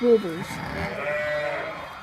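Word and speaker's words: Zwartbles: It's Warbles. It's Warbles.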